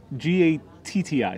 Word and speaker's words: gatti: like g-a-t-i g-a-t-t-i so so here here in italy always pronounce the double letters they don't they pronounce each of the double letters yes yeah so if you have a double d or a double t you usually pronounce it so there is a difference between gati and gatti yeah two different words for us and yeah the person